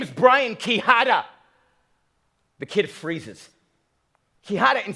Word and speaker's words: Quijada: Quijada, spelled with a Q, not a K, not spelled with an H, but a J.